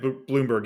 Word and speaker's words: Blomberg: I think it is pronounced Bloomberg, even though it's only spelled with one O.